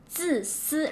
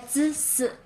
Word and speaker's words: 自私: So it's 自私, right? 自私.